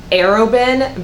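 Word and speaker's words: Arobynn: I know it's pronounced Arobin because that's how I listened to it in the book, but oh my gosh.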